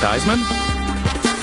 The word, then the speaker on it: Theismann: Joe Theismann? Rhymes with Heisman.